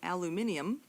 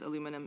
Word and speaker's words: aluminium: Aluminium, by the way, is the preferred name in uh or name and pronunciation in British Commonwealth English. It's the same thing as aluminum in American English.